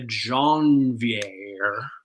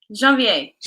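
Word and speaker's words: janvier: coming out in a john viere john viere what jean vie i know don't pronounce the r i know you were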